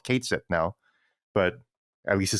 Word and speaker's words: Cait Sith: So that's kind of a shout out to his original pronunciation as Keitshi, the Gaelic pronunciation. So they decided to just make him a Scot, So they butchered the pronunciation, and so that's why he's just called Cait Sith now.